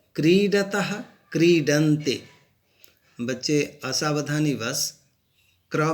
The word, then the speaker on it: क्रीडति: देखते हैं लट लकार में क्रीडति, क्रीडतः, क्रीडन्ते। बच्चे असावधानीवश क्र में ह्रस्वई की मात्रा लिख देते हैं, जो गलत है। हम लोग यहाँ उच्चारण भी क्रीडति करते हैं, न कि क्रीडते।